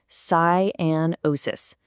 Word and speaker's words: cyanosis: Let's get that pronunciation down. Cianosis. One more time. Cianosis.